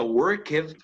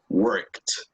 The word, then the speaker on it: worked: Por ejemplo, esto, lo que tenemos en el chat este momento, esto no se pronuncia worked, se pronuncia worked. ¿Ok? Word. Worked. Exacto. Esta ed suena como T.